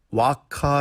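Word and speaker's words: vacca: 즉 아카 하고 있지만 원래는 와카 라고 발음해 떤 이다 나는 라디 바로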